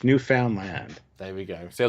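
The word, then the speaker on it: Newfoundland: named for Finland to be new no it's new found Land There we go see I wonder new New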